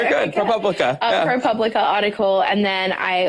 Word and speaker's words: ProPublica: I got sent the pilot script and the ProPublica article. I'm saying that wrong, aren't I? You said it right, girl. Right. You're good. Okay. ProPublica.